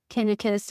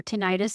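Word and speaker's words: tinnitus: having problems with um tenus or 10 however you prefer to pronounce it ringing in my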